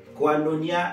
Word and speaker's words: koinonia: que ça veut dire quanonia ça s'écrit k o i n o n I a donc je répète quanonia